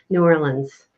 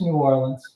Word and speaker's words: New Orleans: Have Luggage Will Travel, our fellow Louisiana peeps, and they told us to ask you how to say New Orleans.